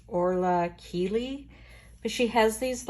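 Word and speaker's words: Orla Kiely: I think her name is pronounced Orla Keeley, but she has these like floral, very 70s mod type prints that she uses in her designs.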